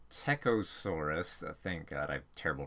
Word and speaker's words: Psittacosaurus: Some other ornithopod cousins were Cytantosaurus, who had a toothless... Actually pronounced Psittacosaurus.